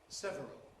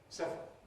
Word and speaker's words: several: Nevertheless, some dictionaries do give you the form several and it's not entirely possible. It's not entirely obsolete, but for general purposes, general general general purposes, I would recommend several as the normal pronunciation.